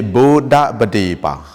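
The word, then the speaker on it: Buddhapadipa: Now say after me, Buddha Badipa.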